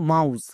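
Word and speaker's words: mouse: টিপসটা ভালো করে দেখো যদি কোন শব্দে ও ইউ থাকে ও ইউ এর জন্য আও সাউন্ড করে দেবো যেমন মাউস বাট ও ইউ এর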